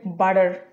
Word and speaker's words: butter: আমাদের প্রথম ওয়ার্ডটা হচ্ছে বাটার। বাটার, এটা ফ্ল্যাপিং করলে উচ্চারণ হবে বাটার। বাটার। সো ঠ হয়ে যাচ্ছে ড, বাটার হয়ে যাচ্ছে বাটার।